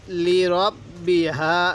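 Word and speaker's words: لِرَبِّهَا: hook hook আরেকবার আজিনাত লিব্বিহাত আরেকবার বলুন আজিনাত আজিনাত লিব্বিহা লিব্বি পড়বো না লিব্বিহা এই হাটা উচ্চারণের সময় মুখ দিয়ে হালকা বাতাস বের করব এরকম ভাবে ইয়া এর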